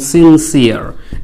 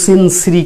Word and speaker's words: sincere: তাহলে আন্তরিক ইংরেজি আপনি ব্যবহার করবেন সিনসিয়ার, SINCERE। উচ্চারণ জন্য সিনসিরি করবেন না, সিনসিরি নয়, সিনসিয়ার।